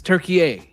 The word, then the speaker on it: Türkiye: Like how people pronounce Turkey as Turkey. Right? It's Türkiye.